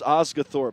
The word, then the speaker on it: Osgathorp: Osgorp. I finally heard it said. I stopped long enough to hear it said, so I've been giving it a long O instead of the short O, but it's Osgathorp.